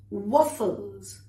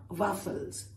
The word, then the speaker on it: waffles: Pancakes on top, sausages, waffles, not waffles, waffles, bagels, all right?